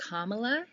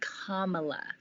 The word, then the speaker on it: Kamala: be too all right so joe biden pick hamila harris and her name is pronounced kamala kamala harris for those listening kamala as his